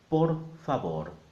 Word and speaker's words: por favor: And the V is a B. So together, por favor.